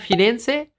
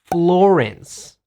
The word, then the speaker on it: Florence: And what about Firenze? In English, you say Florence. Florence. Italia. Italy. Firenze. Florence. What was that? Florence.